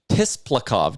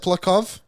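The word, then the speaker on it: Tsyplakov: Someone threw out the Maxim Tisplakov deal from the Islanders. Isn't it Siplakov? I believe the T is silent.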